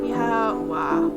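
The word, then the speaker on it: Oíche mhaith: One dialect would pronounce as Iawa. Another almost like the word why. Iawa.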